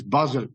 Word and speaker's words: Basel: The third Basel it is pronounced, we say Basel and whatever, is Basel, it's a town, and that pronunciation is Basel.